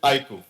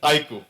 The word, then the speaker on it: iQOO: and on its iku the pronunciation is iku I emphasize again it's iku so that was our